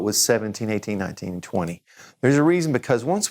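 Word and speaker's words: vingt: And 20. 20. 20. Okay, and I is going to have an sound, N in the nose. Don't pronounce the T. It's a long word for one sound, which is 20.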